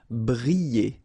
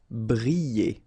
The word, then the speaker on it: briller: Briller. Alright, so here, I and then double L, so you get the sound y, y, y. Briller. Briller.